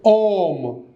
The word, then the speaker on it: homme: For example, homme, H-O-M-E. In French, H always remains silent.